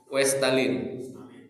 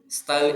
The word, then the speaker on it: Stalin: Lenin dan Westlin, gitu bacanya? Ya. Westalin. Stalin. Oh, wahnya enggak dibaca.